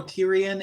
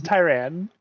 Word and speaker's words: Tyran: And my fellow commentator, Tyrion, and myself, Nira Lightshine. It's Tyran. Tyran. What? It's Tyran.